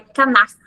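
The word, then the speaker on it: כנף: Aqui na tradução hebraica, ela tem a conotação de ela, a pronúncia dela é canast, que significa asas, o manto, né?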